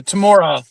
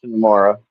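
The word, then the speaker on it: Temuera: Now, if you look at the credits, I think it is pronounced tomorrow.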